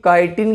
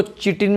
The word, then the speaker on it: chitin: Yeast, इन दोनों में ये काइटिन की बनी होती है, CHITIN। बहुत लोग इसको चिटिन भी बोलते हैं, तो भाई कोई दिक्कत नहीं है, जो बोलना है बोलो।